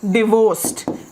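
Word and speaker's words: divorcee: कुछ लोग तलाकशुदा होते हैं, वो कहेंगे आई एम डिवोर्स्ड, DIVORCED, आई एम डिवोर्स्ड। Fine. अगर एक और शब्द है, उसका जरा उच्चारण पर आप ध्यान देंगे, वो शब्द है हमारा डिवोर्सी।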